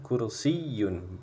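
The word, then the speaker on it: كرسي: ini sebuah ranjang had kursiyun H kursiun nah ingat Bang di sini ada tasdidnya ya dinya kursiyun cara bacanya seperti itu ini sebuah kursi yang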